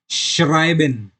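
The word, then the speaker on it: schreiben: और लास्ट का एक एस सी एच, उसे हम श की तरह प्रोनाउंस करते हैं, श। तो इधर देख सकते हैं श्राइबेन।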